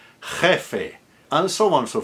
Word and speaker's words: jefe: So that's a j as in Bach, a hard j, which is spelled in IPA as an X, written as an X. So if you're doing Castilian Spanish, you want to do those really hard, guttural.